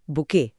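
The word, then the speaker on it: bouquet: और इसका उच्चारण ध्यान रखना है, बुके, टी साइलेंट।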